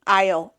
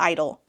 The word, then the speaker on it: Isle: the end of that Idol Isle Isle not Idol he startled at her